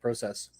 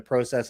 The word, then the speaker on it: process: And there you hear the Canadian in me, Brian, the process instead of process. Yeah, well, you're saying it the right way. Yeah. Well, that's the way it's spelled. I joke with people all the time that I'll start saying it process the day they start spelling it PRAW.